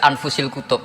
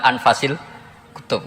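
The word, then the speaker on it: أنفس الكتب: anut bacaan saya saja di sini ditulis anfusil kutub kalau saya baca anfasil kutub karena maknanya kitab ter baik Kalau kitab terbaik bacanya bukan anfus tapi apa anfas ya nanti kamu debat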